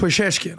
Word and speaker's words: Pezeshkian: you're the new president, was it Pezeshkian? What do you say his name? The new president of Iran? Something like that. Pezeshkian.